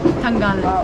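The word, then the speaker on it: Tangalle: Tangal.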